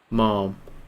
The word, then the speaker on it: ma'am: see talk to those anytime I hear Brits say ma'am it's always Mom oh Mom right yeah